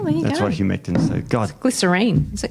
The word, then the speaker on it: humectant: Humescent. Oh. Humectant. Oh, there's T in there.